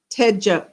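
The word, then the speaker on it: Techo: Uh so the brand new TCO International Airport uh it's actually it's uh a ch is pronounced more like a J.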